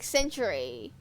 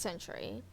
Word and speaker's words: sentry: It sounds like I'm saying century like the time period of time. Hold on. Hello. It's apparently like a comic book sentry. I mean um Google. Thank you. Sentry. So it is pronounced sentry.